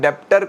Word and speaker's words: debtor: So remember kids, debtor is nothing. This is debtor. The B word is silent.